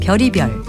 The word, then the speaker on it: 별의별: 쓸 때는 별의별이라고 쓰고요 발음은 별이별 또는 별의별이라고 합니다 간혹 벼라별이라고 하는 분도 있던데요 이것은 맞는 표현도 아니고 맞는 발음도 아닙니다 별의별은 보통과 다른 갖가지의